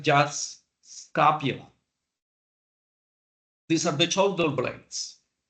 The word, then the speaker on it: scapula: on the left on the scapula we don't pronounce the E we said just scapula these are the shoulder blades this flat bones